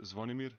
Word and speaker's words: Zvonimir: Pronounce just your first name. So my first name is Zvonimir.